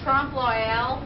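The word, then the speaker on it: trompe-l'œil: Alright, well, first thing I want to ask is, I've been trying to figure out how to say Trump Loyal the right way. Does anybody know how to pronounce it?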